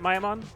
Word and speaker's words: Miaumon: Mamon is his name is that how you pronounced it mayaman yeah definitely told it was pronounced mean earlier on like a couple weeks ago May that was someone who was just trying to troll Maman it's possible I think